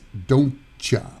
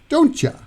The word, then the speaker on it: don't you: to the beach so would you is usually pronounced as would you could you is Kuja and don't you is don't cha don't cha don't you love the way that sounds would